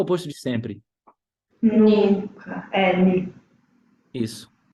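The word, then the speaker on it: nie: Ni. Isso. E por que a pronúncia ficou ni?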